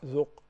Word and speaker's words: ذق: You pronounce the vowel perfect. Yeah. ذق. What about the qaf? What vowel does the qaf have? Look at the letter qaf. What vowel does it have? Sukun. Yeah, exactly.